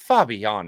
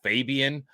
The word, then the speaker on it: Fabián: perfectly here for Marco Fabián. And let's be honest, folks, please, for the love of God, Fabián is not hard to say. Stop calling him Marco Fabian.